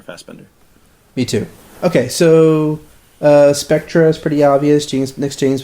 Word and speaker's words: Spectre: it's pronounced Spectre. It means a ghost, actually.